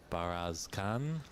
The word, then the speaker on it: Bayarsaikhan: This is our final round-robin televised match facing the defending champion Mink Nacharat against Narantuya Bayarsaikhan. If I'm pronouncing that correctly.